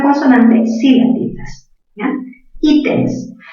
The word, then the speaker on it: ítems: Ítems, mayor fuerza en la sílaba I.